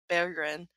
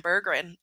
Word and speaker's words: Berggren: interviewed Larkin and uh Trevor Thompson said something something you want to send Bergen and he goes That's how you say it and then they like apparently had like a whole talk about how to say Jonathan's name but that's great I've just been saying Jonathan berggren I saw they asked